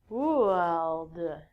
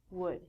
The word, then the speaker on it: would: All of these L's are silent. So it sounds like should, could, and the thing that we get from trees, would.